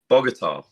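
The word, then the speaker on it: Bogotá: I was uh is it the kogoga a pronunciation yeah um now you've maybe not be able to say it Bogota Bogota that's it okay how how is Bogota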